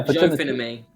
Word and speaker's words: Jophinimi: It's Joe, Finn, and me.